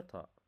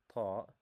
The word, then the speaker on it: ط: Okay, the letter Ta.